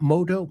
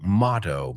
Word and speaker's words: motto: As for this week's question, I'd like to start off by saying that my moto in life, not moto, motto, mo ah motto is to take advantage of every single minute of life's gift.